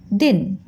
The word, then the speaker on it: दीन: इसको दिन बोलते हैं, दिन। और ये है दीन, द में बड़ी की मात्रा लेने से उसका उच्चारण करते हैं दीन।